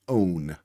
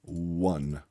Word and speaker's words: one: So this should be own but instead it says one. So bring attention to the actual pronunciation versus the actual spelling.